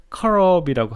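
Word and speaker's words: כרוב: 그룹을 영어 발음으로 하면 셰루빔이라고 하고 히브리 원어로는 커럽이라고 하는데요.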